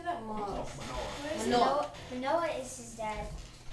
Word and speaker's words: Manoah: Mona is his dad. How do you say that? Manoah.